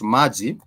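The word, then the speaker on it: maji: easier one example because so words are read just as almost as as as directly as they are written so for example you're talking about Mai Mai translates into water right so if ma is translating into water then we do have those two syllables Ma and G we do have those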